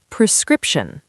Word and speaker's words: prescription: Prescription. Prescription. The stress is on the second syllable.